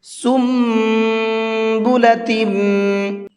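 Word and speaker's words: سنبلة: کل سنبلۃ مئۃ حبہ، سنبلۃ، یہ سیم قاعدہ ہے سم کے اندر جو ابھی ابھی میں نے آپ کو بتایا ہے، تو یہ میم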